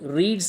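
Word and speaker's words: read: second form देखेंगे तो spelling तो सेम होगी पर उसे पढ़ेंगे रेड तो यहां पर मतलब हो जाएगा देखिए सेम सेम स्पेलिंग है एस नहीं है ठीक है रीड रेड रेड तो दूसरा फॉर्म है रेड तो हम इसे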